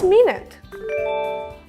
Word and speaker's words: minute: minute is 60 seconds the word is talking about is pronounced my my with a long I like high and like my n with the oo sound like Boot and shoe n my can mean very small